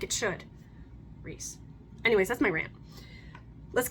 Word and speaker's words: Rhys: it's Reese it's Reese it is a Welsh name and it is pronounced Reese and if you don't pronounce it Rhys you are doing it